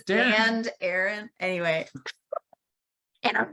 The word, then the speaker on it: Arryn: And Aaron's name is spelled a little weird for an Arryn. It's not, it's Arryn, but probably once you get to the Lift with Holly and it'll come up.